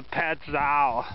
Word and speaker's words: Pattison: so maybe I'll do another shuttle down to petow that's how you pronounce it I'll probably hook the lock the